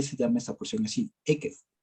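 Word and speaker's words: עקב: La parashá se llama Ekev. Así se pronuncia.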